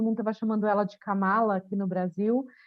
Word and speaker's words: Kamala: nem nada ela falou meu nome se pronuncie a cama lá eu falei tá e